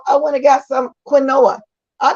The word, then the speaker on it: quinoa: went and got some quinoa. I call it quinoa, but some people call it quino, Quinoa. I call it quinoa, but it's pronounced quinoa, something like that.